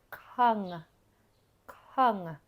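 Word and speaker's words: ខឹង: it because the vowel the actual vowel sound is uh uh it's like a short u but cut very short now when this is put with a no it sounds like a short u sound this is red kung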